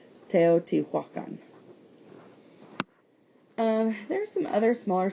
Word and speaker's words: Teotihuacan: And it's actually pronounced phonetically, really, based on how it's spelled. Teotihuacan.